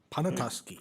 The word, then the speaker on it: Pawtuski: We're on item 6B, Big Pawtuski Bike Trail. How do you say that? Pawtuski. Correct.